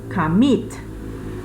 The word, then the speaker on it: commit: Por ejemplo, commit, ¿sí? Commit. Si termina commit, tiene el acento en la última sílaba.